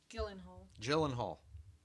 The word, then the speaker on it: Gyllenhaal: Gyllenhaal. J. You can say G. You'd be saying it wrong.